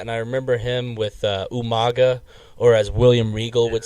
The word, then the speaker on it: Umaga: I remember him with Umaga, or as William Regal would say, Umanga. I was like, what? I was like, it's Umaga, William, but he would always say Umanga.